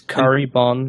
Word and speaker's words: Kuribon: It's curry bun. It's like a bun.